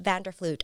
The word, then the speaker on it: Vanderfluit: we want to welcome melissa vanderflute i'm sorry if i butchered your last name you did it perfect hi melissa vander fluge thank you thank you